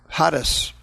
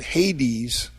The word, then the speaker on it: Hades: That's the Greek word Hades. Hades, or in English they pronounce it Hades.